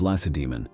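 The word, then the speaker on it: Lacedaemon: of the city of Lassa demon the stress of which is mistakenly placed on the last syllable even by experienced historians later on the city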